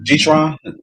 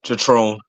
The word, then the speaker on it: Jatron: All right, Leo, Lord G-Tron, I'm saying it correctly? Jatron.